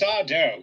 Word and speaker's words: Sardo: Oh, well, it's Sardo. No, mister. Accent on the dough.